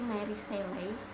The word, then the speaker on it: Mary Shelley: Jadi Frankenstein itu sebenarnya ada bukunya, buku klasik dari Mary Seley. Cara bacanya gitu ya.